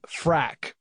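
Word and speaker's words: Phrack: a digital publication called frak frak spelled with a pH so is a portmanteau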